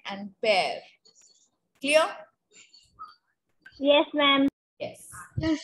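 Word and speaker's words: père: A word P-E-R-E, we pronounce it as pear.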